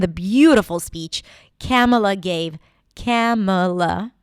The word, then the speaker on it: Kamala: Camela. That's how it's pronounced. Camela.